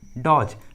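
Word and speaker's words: dodge: उसके बाद जी है, इसलिए ट्रिक के अनुसार डी का उच्चारण नहीं हुआ है, दोनों में डी साइलेंट है, डी का आवाज़ नहीं आ रहा है।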